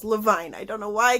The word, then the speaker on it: Levine: and ever by Gail Carson Levine I keep pronouncing it Levine and I should know better than that because